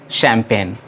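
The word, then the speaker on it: champagne: पड़ते हैं चैंपियन और उसमें जी साइलेंट है जैसा मैंने पहले बताया कि फ्रेंच भाषा में सीएस से शो बनता है क्यों नहीं इसीलिए इसे पढ़ते हैं शैंपेन अलग-अलग यह शब्द है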